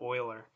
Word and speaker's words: Euler: you this is Euler that's how you pronounce that oiler right X right why